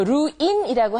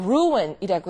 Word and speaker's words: ruin: 그다음은 아 ruin이란 단어가 나오는데 그 루인이라고 하지 않고 r루이라고 해서 어떤 걸 그릇치고 망친다.